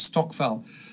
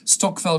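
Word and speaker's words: stokvel: Stockell it's St o k v l it's pronounced Stockell Stockell group and it's basically uh groups of African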